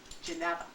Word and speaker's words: Geneva: So I have lots of opportunity to proudly say, it's pronounced Geneva.